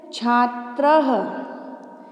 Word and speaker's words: छात्रः: पहला शब्द है छात्र, जो त्र है उसके पश्चात बच्चों दो डॉट्स दिखाई दे रहे हैं, इन डॉट्स को संस्कृत में विसर्ग कहते हैं और इसका उच्चारण ह से किया जाता है, आप लोग अच्छे से सुने। देखो मैंने सिर्फ त्र तक नहीं बोला है, मैंने छात्र बोला है ना, है की साउंड आ रही है पीछे।